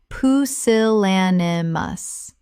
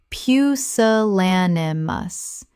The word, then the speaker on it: pusillanimous: Common mispronunciation. Poo-sil-lan-i-mous. Correct pronunciation. Poo-sil-lan-i-mous. Five syllables with the stress on the third, meaning showing a lack of courage.